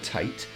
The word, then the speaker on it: tate: It's spelt Tate, but trust me, it's pronounced Tate because it's Japanese. It's the Japanese word for vertical writing, and I found that out this afternoon.